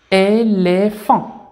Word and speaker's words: éléphant: امامها اي ننطقها لي ثم بي مع اش هنا تنطق كالصوت ف اذا اي لي ثم ف مع ان فون نجمع الكلمه éléphant.